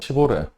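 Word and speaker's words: Chevrolet: 시보레 철자를 보면은 영어로 읽으면 도저히 이게 시보레라는 발음이 나올 수가 없습니다. 미국 애들도 그냥 쉐비 그러고 끝냅니다. 근데 잘 찾아보면 그 철자가 원래 프랑스어입니다. 불어로 읽으면 정확하게 시보레 발음이 나옵니다.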